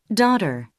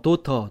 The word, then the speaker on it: daughter: 자 다음 단어 들어보겠습니다 daughter 예이 단어도 도터 도터 또는 도러 도러 이렇게 발음하지 않죠 대신 이렇게 발음하고 있습니다 다시 들어보시죠 daughter 자 다음 단어입니다 예이